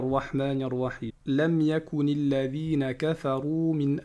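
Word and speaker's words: كفروا: Kafaru. Alors ici, ce que vous voyez en gris là, le alif avec un 0, ça ne va pas se prononcer.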